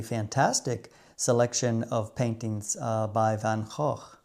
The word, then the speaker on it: Van Gogh: selection of paintings by Van Gogh. Hey, you see, I got that pronunciation a little bit better that time. Otherwise known in America as Van Gogh.